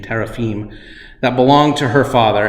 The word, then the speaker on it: teraphim: which in Hebrew is the word teraphim or teraphim to be more accurate pronunciation teraphim that belonged to her